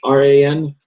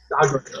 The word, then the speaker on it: Gaughran: I do not know how to pronounce his name. Gaughran. Oh yeah, I think Gaughran maybe. Gaughran. Okay, that sounds simple.